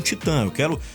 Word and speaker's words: Titã: Titã se escreve T-I-T-A-Tio.